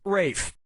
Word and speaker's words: Ralph: fein's first name is spelled like ralph but pronounced rafe and his brother joseph